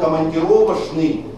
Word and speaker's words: командировочный: стало И если раньше и слово командировочный произносилось через Ш командировочные многие образованые Москвичи сегодня